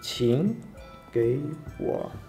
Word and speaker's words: 请给我: В данном случае мы произнесли... третий, второй, третий. То есть тин, гэй, во.